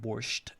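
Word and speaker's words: borscht: they spell it like borched which is actually I would say I don't know why they added t at the end because in our pronunciation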